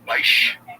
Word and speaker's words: Bysshe: Bysshe.